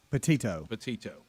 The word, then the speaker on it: Petito: Petito.